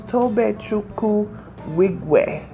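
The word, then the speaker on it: Tobe Nwigwe: I think it's Tobe Chukwu Wigwe. I don't think you pronounce the N.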